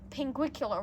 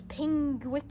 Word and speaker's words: pinguicula: names so you know pinguicula right that sort of succulent D I used to think it was pingul or something it's really weird anyway